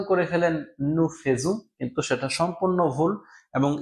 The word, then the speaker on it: nous faisons: উচ্চারণ হয় একার, কিন্তু এই একটা মাত্র জায়গায় যেখানে হচ্ছে আ ই এর উচ্চারণ হয় ওকার। তার মানে একমাত্র ফেয়ার ভার্বের নু এর কনজুগেজো করার সময় আমার উচ্চারণ করতে হবে নু ফোজু।